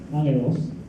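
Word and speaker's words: ἄγγελος: The New Testament Greek is angelos, and it doesn't look like it's pronounced, but that's exactly where angel came from. The first G is a little silent, angelos.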